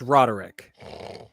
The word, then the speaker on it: Roderick: It's pronounced Roderick.